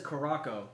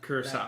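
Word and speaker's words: Curaçao: Yeah, everyone says Caraco. It's not. It's Curacao. There's accents in the name. Curacao.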